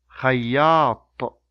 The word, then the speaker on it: خياط: خياط, خياط, خياط, خياط. Okay, now I will say the words again. You repeat after me. طويل, مطر, خياط.